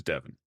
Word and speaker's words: Devin: 7 and 11 rhyme with my actual name, which is Devin.